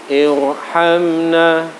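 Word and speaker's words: ارحمنا: Irji'i, irhamna, itu membacanya harus irji'i, bibir agak maju, suara memenuhi rongga mulut. Irji'i, irhamna, irhamna, jatuh sesudah hamzah wasal.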